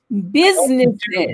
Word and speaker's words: businesses: Alors, méfiez-vous parce que le U ici, il n'est pas prononcé comme un U, OK, mais comme un I court, ce qui ressemble beaucoup au E accent aigu.